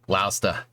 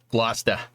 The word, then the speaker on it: Gloucester: But you lived in Gloucester for a few weeks before I knew how it was pronounced. Yep. Yeah, Sean. Gloucester. Gloucester. Yep. Yeah, you got to go up to Gloucester, get some good fish while you're at it there, dude.